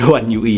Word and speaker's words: One UI: One uui ini oneui ya, cuma dia tulisannya one yoi ya. Dia bacanya oneui ya dan istilahnya etomox.